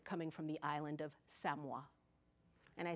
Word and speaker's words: Samoa: I'm going to spell it and you write it down. S-A-M-O-A. And we all know that country. It's an island in the South Pacific, and we say it is Samoa.